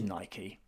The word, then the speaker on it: Nike: know, people burning their Nike shoes and people of Britain, it is Nike. It's not Nike.